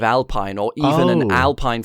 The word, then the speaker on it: Alpine: It would be Alpine because French, but yes, that just doesn't.